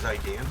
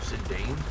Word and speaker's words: Zidane: And I love Final Fantasy 9 with Zidane, or Zidane, depending on how you pronounce his name.